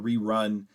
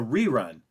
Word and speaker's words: rerun: it, it's just a rerun. And so then it's on the first syllable. So a noun, first syllable, verb, stress is on the second syllable.